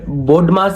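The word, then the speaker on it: BODMAS: बट बोडमास से पहले वी भी आता है। वी साइलेंट रहता है। ठीक है? इसको अपन प्रोनाउंस तो बोडमास ही करते हैं।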